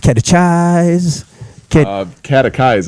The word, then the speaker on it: catechize: me okay the cheese catch eyes actually oh you see it either way I'm wrong pretend that the H wasn't there oh God the H is silent so how are you